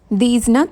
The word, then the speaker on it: these: தீஸ்னால் தமிழில் இவை. இதை எப்படி ப்ரொனவுன்ஸ் பண்ணுறதுன்னு நல்லா கேட்டுக்கோங்க. தீஸ் கடைசியில் ஜெட் சவுண்ட் ஜி சவுண்ட் வரும். தீஸ்.